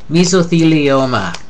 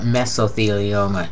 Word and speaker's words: mesothelioma: terrible things to happen misoa commercial on TV used to call it mesothelioma drove me crazy me esoa naso faringitis